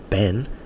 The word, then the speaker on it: Ben: her, I say, look, Ben has 1 syllable. Ben, it's not Ben, yeah?